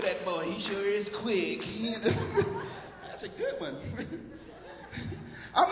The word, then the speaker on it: Quick: Quick, Q-U-I-C-K, just like it's spelled, man.